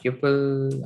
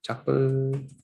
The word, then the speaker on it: tuple: Python tuple or tuple, depends on the country, you can pronounce it.